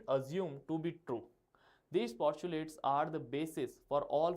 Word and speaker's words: postulate: Now postulates. Okay, how to pronounce this? Posh, P-A-W, you can say. Chu, C-H-W, and late. Postulate.